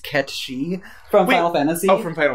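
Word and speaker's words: Cait Sith: Good old Kate Sith. It's actually pronounced Ketchy from Wait, Final Fantasy.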